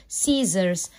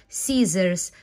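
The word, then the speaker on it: scissors: او واي يبقى اسمه سي والدبل اس هنا بتنطق زد سيزرز سيزرز وبرضو هتلاقي قاعده الاس ليه نطقت زيت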